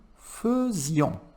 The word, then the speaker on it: faisions: Nous faisions. Cuidado na pronúncia, tá?